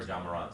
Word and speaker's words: Ja Morant: So it's J Morant. Ja Morant. Ja. I said Ja.